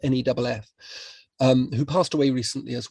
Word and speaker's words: Neef: a man called Manfred Max Neef, or Neff, I think it's pronounced Neff, who passed away recently as well.